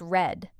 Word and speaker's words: read: In the past, it is spelled R E A D but pronounced red like the color red.